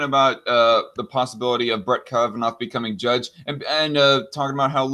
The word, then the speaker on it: Kavanaugh: Report, if confirmed, Kavanaugh, I've heard it pronounced Kavanaugh, but I'm going to pronounce it Kavanaugh because it's, I don't know, it's spelled like laugh in the last few letters here, will be the second